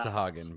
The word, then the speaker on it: Sahuagin: Sahuagin. That's how I've always pronounced them. I'm sure that it's Sahagin, but the Sahooligans.